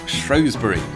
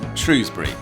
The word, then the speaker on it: Shrewsbury: of Shropshshire and its county town of Shrosbury or Shrewsbury.